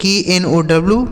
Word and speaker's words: know: तो देखिए यहाँ के साथ यन है, तो जहाँ पर भी किसी भी शब्द में अगर के साथ यन होता है तो वहाँ के साइलेंट होता है, मतलब इसे नहीं पढ़ा जाता है, ठीक है। तो यहाँ पर हम के का उच्चारण नहीं करेंगे, इसे पढ़ेंगे KNOW, पढ़ा जाता है नो, ठीक है।